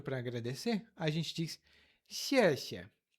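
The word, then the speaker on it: 谢谢: O X é pronunciado com a ponta da língua.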